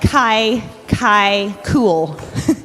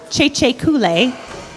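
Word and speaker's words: Kye Kye Kule: First piece you're going to hear in the program, it looks like Kai Cool, but it's pronounced Cheche Kule.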